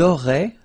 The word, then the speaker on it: auraient: auriez, and then, ils auraient, little link, but then look, A-I-E-N-T like that, and you only pronounce E, like we had here. It will be exactly the same pronunciation here.